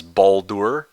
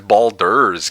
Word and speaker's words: Baldur: Uh, Isoki wrote, "I've always pronounced it as Baldor." Balders bald. Balddor Baldor's gate. I'm pretty sure it's Baldur's gate rather than door.